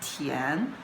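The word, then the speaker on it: 田: A Li, this character, is combined with this part, which pronounced as Tian, and this part, which pronounced as Tu.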